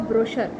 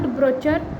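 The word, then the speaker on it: brochure: सी the spelling of ब्रशर बीर एच य R many people रली prawns ब्रचर इट नॉट ब्रचर बट इट ब्रोशर brush C याचा उच्चार आपल्याला श असा करायचा ब्रश ते ब्रचर नाहीय ते ब्रोशर आहे प्लीज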